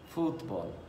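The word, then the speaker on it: fútbol: very easy word football football right as you can see in the spellings there is an accent on you so it's football the word for stadium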